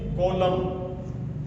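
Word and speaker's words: column: तो इसमें कॉलम इसी तरह से एच वाई एम एन अब इसको हिमन नहीं बोला जाएगा।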